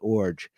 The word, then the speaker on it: Iorg: I can pronounce Garth Orge and name his brother Dane Orge, which is kind of a unique skill, perhaps, in this hobby. IORG Orge.